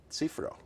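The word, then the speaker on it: Cziffra: Cifra. Cifra. Czifra.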